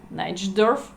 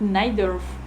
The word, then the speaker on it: Najdorf: Some people pronounce it Najdorf. We call it Najdorf.